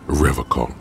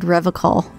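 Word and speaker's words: Revachol: He pronounces Revocol with a hard K, unlike other people. Serious question time. This man is no innocent. No one is. You said Revocol.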